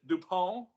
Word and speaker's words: DuPont: And I believe we pronounce it DuPont. Okay. French.